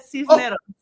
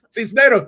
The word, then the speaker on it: Cisneros: You got it right. You said Cisneros. Cisneros, thank you.